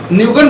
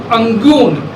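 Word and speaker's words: Nguyễn: न्यूगन भी नहीं कहिए, उसका एक्चुअल में जो प्रोनाउंसिएशन होता है अंगून। हाँ, हम लोग सुविधा के लिए न्यूगन कह देते हैं, लेकिन अंगून आई को ये उनका नाम था।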